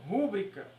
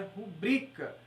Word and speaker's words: pública: recorde e sim recorde pública muitas pessoas falam pública mas o certo é pública então a gente tem que estar bem atento